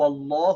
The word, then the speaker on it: Allah: as heavy mean who say law like who Allah who unless the vowel before it is a